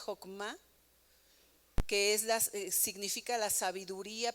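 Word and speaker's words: חכמה: una palabra que es hebrea y que se pronuncia hokma que es significa la sabiduría pero la sabiduría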